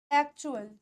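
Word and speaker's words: actual: एक्चुअल कैसे बोलेंगे? एक्चुअल, आधा क, एक्चुअल नहीं, एक्चुअल, ठीक है, एक्चुअल।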